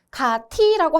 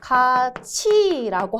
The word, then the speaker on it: 같이: 예를 들어 우리 같이 해돋이 보자 라고 했을 때 저희가 이거 발음 어떻게 하나요? 가티라고 하지 않고 가치라고 하죠.